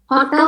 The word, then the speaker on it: hotel: Hotel kan huruf depannya H. Jadi kita baca cuman hotel. Hotel H-nya itu enggak dibaca.